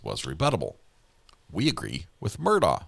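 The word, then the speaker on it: Murdaugh: We agree with Murdo, says the Supreme Court. Why do some people say his name with a K sound at the end? That's how he pronounces it. We agree with Murdoch says the the Supreme Court.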